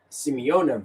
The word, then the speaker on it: Simeone: So Cucurella is searching the player up, and Simeone reacts.